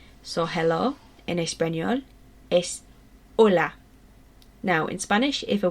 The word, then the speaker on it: hola: hello in Espanol ES hola now in Spanish if a word begins with hitch pretend it's not there so it's not hola it's hola okay so your turn